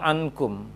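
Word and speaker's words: عنكم: Contoh yang berikutnya ankum, ankum. Jangan baca dengan diayunkan a-nya. Ankum, maka a-nya panjang, disambut dengan nun sukun. Keliru. Bacanya adalah setelah a, kemudian baru dengung, masuk ke dengungnya.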